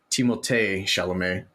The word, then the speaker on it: Timothée Chalamet: So Timothy Chalamet, as it's actually pronounced from what he has stated in the past, Timothée Chalamet, because you got to throw that little French flair on there.